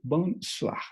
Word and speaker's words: bonsoir: Aquí podemos ver la O y la I que tienen un sonido peculiar, que será OA. ¿Okay? Bonsoir.